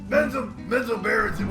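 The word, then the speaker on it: Menzoberranzan: Also, how do you say that place again? Is Manzarenson? Bazazazazaran. Oh! Menzo Berenson.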